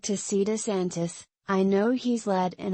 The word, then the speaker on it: DeSantis: But they were also open to thinking about alternatives, like DeSantis, although multiple people interviewed for this story mispronounced his name as DeSantos.